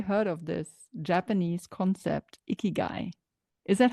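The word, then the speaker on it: ikigai: I mean, I have, but let's ask our audience, have you heard of this Japanese concept, iguay? Is that how you say it? Yes, it's ikyu.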